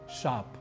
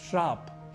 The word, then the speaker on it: शाप: सुना ही है शाप जिसे हम में से बहुत से लोग श्राप ही लिखते और बोल जाते हैं यहां भी हम अतिरिक्त रूप से र अपनी ओर से जोड़ जाते हैं लिखते शाप है बोलते श्राप है जो कि गलत है इसी के प्रभाव में